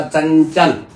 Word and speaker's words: चंचल: [गला साफ़ करने की आवाज़] च के बाद ये जो अं की ध्वनि है ये य में परिवर्तित हो के चंचल ऐसे उच्चारित होगी। इसका उच्चारण होगा चंचल ना कि अंग अंग न हो के य की ध्वनि को लगाया जाएगा।